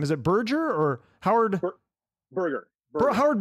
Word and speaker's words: Berger: Berger. Howard Berger.